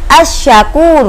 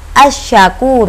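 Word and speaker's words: asy-syakur: huruf alif dan lam bunyi bacaannya assyakur uh nah huruf Anya tidak terdengar oleh kita bukan Al Sapuro tetapi membacanya adalah assyakur Uh jadi meleburkan huruf alif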